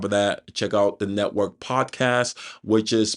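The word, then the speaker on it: NTWRK: then on top of that check out the network podcast which is pronounced network but it's spelled n t w wrk you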